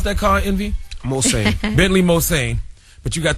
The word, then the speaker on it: Mulsanne: How you pronounce that car, Envy? Mulsanne.